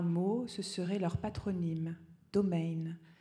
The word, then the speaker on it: Domain: ce serait leur patronyme domain d'origine hugenot que l'on prononce en allemand comme le nom commun français domaine dont on mouillerait un peu le i et voici cheveux gris